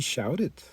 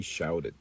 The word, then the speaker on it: shouted: She shouted. En este caso sí pronunciamos la ed. She shouted.